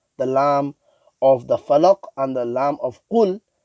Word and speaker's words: الفلق: So a common mistake, people would recite this as qul a'udhu bi rabbil falaq. The lam of the falaq and the lam of qul is pronounced full mouth.